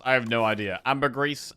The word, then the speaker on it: ambergris: Ambergris, ambergris. Ambergris. I've been told it's ambergris. But sometimes I forget. Ambergris. Ambergris. Ambergris is pronounced primarily as ambergris. With the stress on the first syllable.